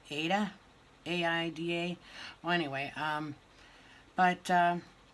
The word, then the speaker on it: Aida: I think that's how you say it, Aida, A-I-D-A.